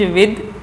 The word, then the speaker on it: with: और अगला है WITH, विद। इसको विथ प्रोनाउंस नहीं करते हैं, विद पढ़ते हैं, विद, विद।